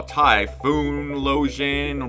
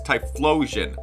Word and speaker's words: Typhlosion: hard to pronounce but I thought it was going to be like a typhoon when I saw tyoon losion blah blah but it's tyion like an explosion cuz that's what it